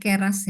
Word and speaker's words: Keras: Tadi tuh bacanya bukan keras ya, tapi keras ya. Dibacanya tadi keras, keras.